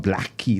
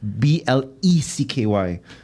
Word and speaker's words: Blecky: It's not Blackie. It's Blecky.